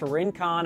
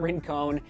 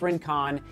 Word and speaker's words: Rincon: And I'll begin by saying the Rincon, and yes, it is pronounced Rincon. I was corrected after the first impression. It's not Rincon, it's Rincon.